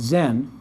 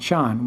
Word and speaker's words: Zen: was came to japan as zen not sean when sean came to